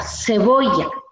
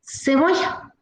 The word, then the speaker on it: cebolla: Que cebolla va casi, la lengua va al cielo de la boca. Cebolla, cebolla. Y nosotros pronunciamos con S, cebolla.